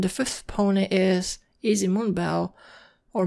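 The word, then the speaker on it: Moonbow: that stuff and the fifth pony is easy moon bell or moon bow as she pronounces it this is the only unicorn in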